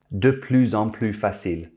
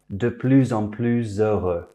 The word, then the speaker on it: de plus en plus: If it's followed by a consonant, the S is silent. De plus en plus facile.